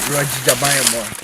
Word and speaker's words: Rodg: So my name is Rodge. But it's spelled as Rodge. R-O-D-G. But that's an interesting name. the pronunciation is Rodge.